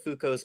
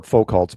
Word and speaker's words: Foucault: Have you heard of Foucault's pendulum? Or Foucault's pendulum, either way. Yeah. Either you could pronounce it either way, I think.